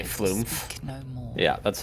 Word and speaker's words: flumph: flump and the people who say flumph. speak no more. Yeah, that's a Quebecois pronunciation.